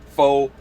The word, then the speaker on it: Pho: that's how that's how you're gonna find it faux law and even the law part of it